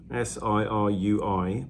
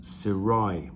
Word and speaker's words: Sirui: is called sirai apparently s i r u i but it's pronounced sirai not sirui so there we go